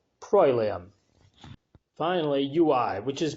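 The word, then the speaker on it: proelium: battle PR o e Li um which is pronounced prolam finally UI which is pronounced we and it's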